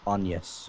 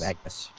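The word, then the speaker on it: Agnès: the chick from bradle def fault's name is pronounced onas instead of agus oh I always said Agnes oh it's onas or something no I always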